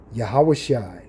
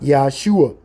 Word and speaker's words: Yahushai: Name of the Messiah, Yeshua, Yahushai. That is the correct pronunciation. Yahushai, not Yeshua.